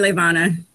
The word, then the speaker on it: Levana: do we call you LaVon or do we call you somebody have to say it right yeah no you can call me levana yeah I'll call your